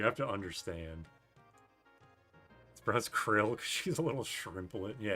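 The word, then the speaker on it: Krile: Cryle is the pronunciation.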